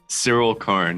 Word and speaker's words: Syril Karn: Syril Karn? Syril Karn, yeah.